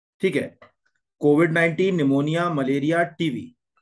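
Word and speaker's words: pneumonia: हूं social awareness ठीक मोनिया निमोनिया में पीस साइलेंट होता है ठीक है पूरा लिख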